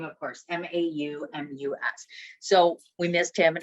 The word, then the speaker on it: Maumus: name is Tomas, and the last name is pronounced again. Maumus. Thank you so much. And that's Maumus.